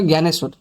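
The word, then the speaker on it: Dnyaneshwar: লিখেছি এটা প্রোনাউন্স করে জ্ঞানেশ্বর বলি আমি ব্র্যাকেটে লিখছি এটা তো ডি এন ওয়াই এ এন ই এস এইচ ডব্লিউ এ আর এটাকে প্রোনাউন্স করে আমি জ্ঞানেশ্বর বলি মারাঠি ল্যাঙ্গুয়েজে প্রোনাউন্সিয়েশনটা এই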